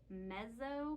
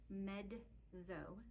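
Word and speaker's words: mezzo: medzo means medium and it looks like Mezo because it's m e ZZ o but the word is pronounced medzo medzo so medo soprano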